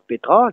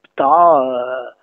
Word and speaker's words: petra: On peut dire Petra, qui est standard actuellement, mais il y en a qui disent Pta, Para, Pte, etc. On n'a pas écrit tout ça, on a écrit Petra.